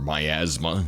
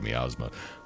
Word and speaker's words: miasma: Or miasma, I think is the technical pronunciation, but I've always said miasma.